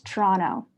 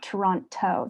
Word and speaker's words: Toronto: the T, the last T is not pronounced. It's Toronto. It's not Toronto.